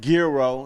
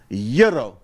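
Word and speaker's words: Gyro: It's not girro. It's not yuro. It's yuro.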